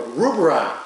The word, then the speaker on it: Rugbrød: Yeah, most Americans says Rugbrød or Rugbrød or something like that. But Danish is very difficult, but it's pronounced Rugbrød.